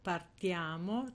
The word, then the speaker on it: partiamo: loro Noi parliamo vediamo partiamo cioè nel noi l'accento sarà sempre su questo ia e loro parlano vedono